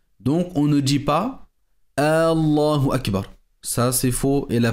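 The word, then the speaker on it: الله أكبر: de sorte à dire Allahu wa Akbar. Cela également est erroné et faux. Donc, il est impératif de bien prononcer la takbira en disant Allahu Akbar.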